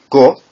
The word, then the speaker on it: 五: wo all right number five uh this is pronounced go in the own reading and IU in the